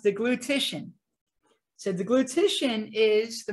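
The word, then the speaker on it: deglutition: I have trouble saying this myself sometimes it's pronounced the glutition so the glutation is the movement of the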